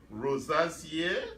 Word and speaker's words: rosacea: If you are, do you experience skin issues such as acne, rosacea? I keep forgetting how to pronounce it. Rosacea.